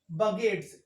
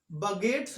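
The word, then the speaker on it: begets: यहां मैं आपको बताता चलूं, लव बगेट्स, इसका प्रोनाउंसिएशन बगेट्स होगा, इसको हम बिगेट्स नहीं पढ़ेंगे, इस बात का ध्यान रखिएगा।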